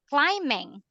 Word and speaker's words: climbing: can you read them climbing silent B sweetheart climbing climbing me hiking Canary fishing